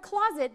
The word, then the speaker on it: closet: Because in the word closet, the S has a Z sound.